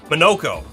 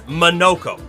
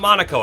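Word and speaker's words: Monoco: We are, we're fighting our soon-to-be friend, Monaco. Monoko. It's Monoko, not Monaco. I keep saying it wrong.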